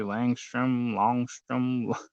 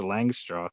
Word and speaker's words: Langstroth: Langstroth, yeah, I hear people butcher that all the time. They say Longstrom, Longstrath. Yeah. I think it's just Langstroth. That's how I say it.